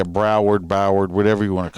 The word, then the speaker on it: Broward: this one happened in boward county uh what the hell what'd you just say boward ain't that how you say it howard yeah broward boward whatever you want